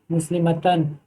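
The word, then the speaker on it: مسلمات: वाले में क्या है मुस्लिमतन, लेकिन यहाँ पे मुस्लिमातुन, मुस्लिमातिन, मुस्लिमातिन। अब इसको प्रोनाउंस में इसको समझ लीजिए कि प्रोनाउंस कैसे करना है। यहाँ पे मुस्लिमातुन और यहाँ पे मीम पे अलिफ है मुस्लिमातुन।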